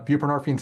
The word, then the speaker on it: buprenorphine: So buprenorphine's hard to pronounce, but that's how it's pronounced.